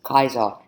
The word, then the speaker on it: Caesar: Julius Caesar which might have been pronounced Julius Kaiser in Latin times after Soledad other generals